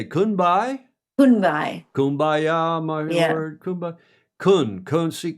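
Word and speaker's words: Kun Bai: Kunbai.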